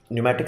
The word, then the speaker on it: pneumatic: understand why we use pneumatic system yes P is silent don't ask me why now pneumatic simply means one thing